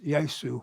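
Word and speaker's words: Jesus: I've got all these historical characters, Harold Wilson, Margaret Thatcher, Richard Nixon, the awful guy, Angleton, James Yosu, I call it the Spanish pronunciation, James Yosu Angleton, who was, terrible, head of counterintelligence, who was part of the Wilson plot.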